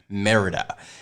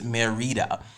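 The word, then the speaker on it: Mérida: funny thing is okay so we came in and we were like merida and then somebody was like oh it's marita but when we are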